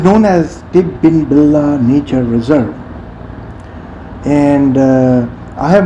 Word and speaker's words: Tidbinbilla: easy okay my friend so how do you pronounce it uh Tintin Villa no no no it's wrong okay two more